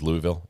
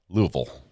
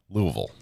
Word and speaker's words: Louisville: You don't pronounce it as Louisville. It's Louisville. Louisville.